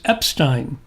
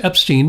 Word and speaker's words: Epstein: years I called Alex Epstein because I used to watch Welcome Back Carter and that's how Epstein was pronounced. But no, rhymes with Einstein.